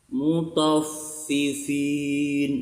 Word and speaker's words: Mutaffifin: Nah, ini kalau ada hurufnya yang 2, fi 2 gini, tandanya panjang. Mutaffifin, nah dibaca panjang.